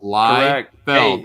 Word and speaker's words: Liefeld: It sounds it sounds exactly how it's spelled. Liefeld.